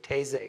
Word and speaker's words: Taizé: know have French taizé it's very simple Tay is a because they hear a lot of people very confused how to pronounce is really easy taizé okay service July 1st